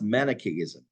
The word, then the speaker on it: Manichaeism: It's pronounced Manichaeism.